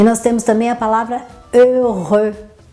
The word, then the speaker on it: heureux: E nós temos também a palavra heureux. Então, nas duas sílabas você tem o mesmo som, né?